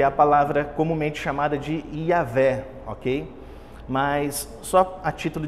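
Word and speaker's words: Yahweh: a título de curiosidade o judeu quando se depara com essa palavra na bíblia hebraica ele não pronuncia aí a ver como nós podemos fazer toda vez que eles batem o olho nessa palavra aqui eles pronunciam adonai porque essa palavra ia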